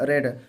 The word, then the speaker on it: read: थी तो इसका होगा रेड। पर ये रीड, रेड, तो रीड की स्पेलिंग होती है READ, और रेड की स्पेलिंग भी READ होगा, बस प्रोनाउंसिएशन में चेंज है।